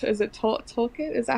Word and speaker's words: Tolkien: Is it Tolkien? Is that how you say it? Tolkien. Okay. Yeah. Tolkien.